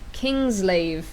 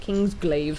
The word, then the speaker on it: Kingsglaive: But this is Kingslave, Final Fantasy 15, I think is how you say it. Kingsglaive.